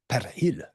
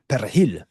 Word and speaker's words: perejil: You got to get that persil, but in Spanish, it's perejil, perejil. Tell me in the comments if I'm pronouncing that correctly. I've taken a few years of Spanish, but it's a perejil. It's got that in there. Do you hear that?